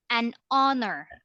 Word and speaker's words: honor: an hour an air an hour an honor an honor okay silent h meaning you don't you don't you don't